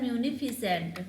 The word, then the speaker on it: munificent: म्यूनिफिसेंट।